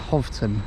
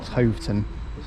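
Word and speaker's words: Hoveton: line so actually also been told this is pronounced hofton and roxom not hton so I've uh stand corrected but yeah so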